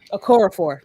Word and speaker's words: Okorafor: Nettie, I can never pronounce her last name. Nettie Okorafor, I think. Okorafor, yes.